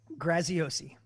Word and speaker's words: Graziosi: because you know if people are out there mispronouncing your name that's a problem it's a problem graziosi Erin you just lost the bet yeah I